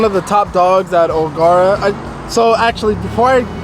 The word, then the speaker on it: O'Gara: the top dogs at oara I so actually before I continue with my statement it's pronounced Agera just wanted to clear that up I thought it was agara but app apparently it's